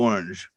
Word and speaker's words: L'Orange: what do you want to be called orange is fine Charlie and a little orange she is she is a has been a